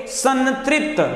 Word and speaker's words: संतृप्त: म और न का उच्चारण करते हुए आपको समझ में आ जाएगा, बोलिए संतृप्त, तो नाक से आवाज आ रही संतृप्त, न तो यहां पे सन हो जाएगा।